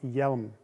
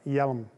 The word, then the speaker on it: HJELM: helmet in english and if you were to write it to actually pronounce it correctly you would write it with a y e l m yelum of course spelled differently